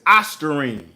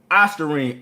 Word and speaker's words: ostarine: is let's see how we make sure we pronouncing this right so is ostarine ostarine o s t a r i n e